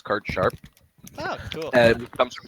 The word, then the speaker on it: card sharp: such thing as a card shark people just mispronounce the word it's card sharp oh cool and comes